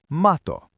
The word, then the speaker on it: mato: In Finnish, that is mato. Student, say mato. Mato. Good. One T, one quick beat.